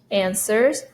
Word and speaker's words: answers: 5, answers the phone. So this is silent W. Answers the phone. Silent W, no W sound.